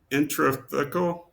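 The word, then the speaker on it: intrathecal: or injection is it's called an in infra intratheal how do you say it Sophia intratheal intratheal intratheal injection.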